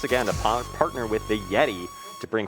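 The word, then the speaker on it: Yetee: Remember, Yeti is spelled Y-E-T-E-E.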